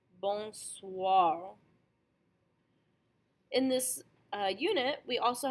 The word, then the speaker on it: bonsoir: You hear the wa sound at the ends of both of these words. Benoit, bonsoir.